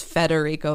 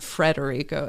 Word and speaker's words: Federico: it's because that test I know it's Federico felini and not fredero anyway uh I just